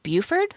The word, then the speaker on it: Beaufort: It's spelled Beauford, and I feel like Buford.